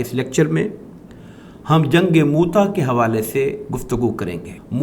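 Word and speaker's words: مؤتہ: Lecture میں ہم جنگ موتا کے حوالے سے گفتگو کریں گے۔ موتا کو عام طور پر لوگ جنگ موتا پڑھتے ہیں، جبکہ محققین نے اس کا صحیح تلفظ موتا بیان کیا ہے۔ اس لیکچر میں ہم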